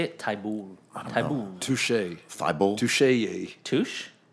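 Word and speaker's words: Thybulle: So they Like- drafted Tabuye. Is that how you say it? Taibul.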